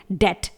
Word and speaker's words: debt: होगा, जैसे डेट, DEBT, इसे हम डेप्ट नहीं पढ़ेंगे, इसे हम पढ़ेंगे डेट, बी साइलेंट रहेगा।